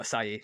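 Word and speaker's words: açaí: you said, and then I just kept saying acai, but acai Yeah.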